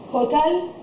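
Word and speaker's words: hôtel: have silent letters and in this one the h is silent it's hotel you just take away the h and say the word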